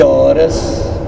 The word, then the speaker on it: Reus: véus ré luz é aportuguesado número sobrenome alemão pronuncia-se horas joão batista pode estar was bom senhores internautas